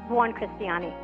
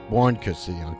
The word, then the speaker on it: Buoncristiani: Did I pronounce it right, Tina? Buoncristiani. Buoncristiani.